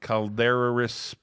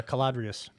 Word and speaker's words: Caladrius: the next screen here i can't even pronounce the name calderous biosciences it's uh caladrius yeah whatever clbs caladrius